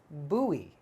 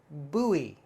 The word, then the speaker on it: buoy: spelled that way but actually not correct we pronounce this buoy buoy buoy and a buoy is uh something that floats